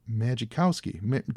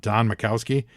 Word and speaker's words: Majkowski: I can't pronounce that. Majkowski.